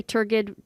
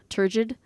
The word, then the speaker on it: turgid: turgid some people say turgid with a hard g some people say with a turgid and it just means